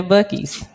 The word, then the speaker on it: Buc-ee's: This is a place called Buc-ee's. Am I saying it right, Shawnee? Buc-ee's? Mm-hmm. Yeah, Buc-ee's.